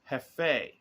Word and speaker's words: Jefe: he said well the the correct pronunciation of the name is Jefe it means boss or supervisor or leader I didn't know that